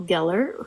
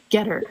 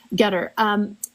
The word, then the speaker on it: Getter: John's mentor, Paul Geller, who I said is the marketing guy. Getter. Did I say it wrong? Getter.